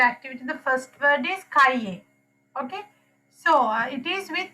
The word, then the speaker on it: cahier: In some word it gives a pronunciation also. Cahier, Kaye. cahier, Can you hear it? Yes, Miss. Yes, it's kaye.